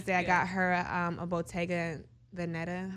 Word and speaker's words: Bottega Veneta: And then the second one for Mother's Day, I got her a Bottega Veneta. How you pronounce that?